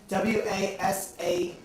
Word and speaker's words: Wasatch: Wasatch. W-A. S-A-T-C-H. It's like Sasquatch. That's not actually close at all.